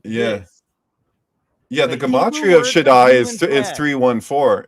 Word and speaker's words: Shaddai: How you pronounce it? Shaddai.